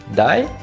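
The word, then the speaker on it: 台: de l'homme voilà donc ils se prononcent die ensuite je lui a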